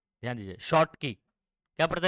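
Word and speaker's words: Schottky: शॉर्ट की। ठीक है, अच्छा यहाँ पर एस सी एच था ना, स्पेलिंग जरा चेक करना तो, कि बराबर एस एच, एस सी एच है ना?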